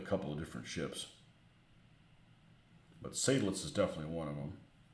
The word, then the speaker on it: Seydlitz: Yeah, S-E-Y doesn't seem like it should be Psy. It could be.